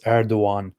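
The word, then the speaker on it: Erdoğan: is basically that's it it's called a soft g and it's that's also in erdogan's name you know erdogan it's erdogan that's it it's weird so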